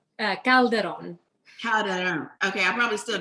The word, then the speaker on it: Calderon: so many times because, it's easy to say Calderon or Calderon, but to say it correctly is Calderon.